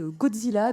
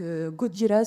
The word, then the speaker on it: Gojira: À la base, c'est un groupe qui s'appelait Godzilla. Donc Godzilla, c'est la version un peu japonisante de de Godzilla. C'est la version prononcée à la japonaise.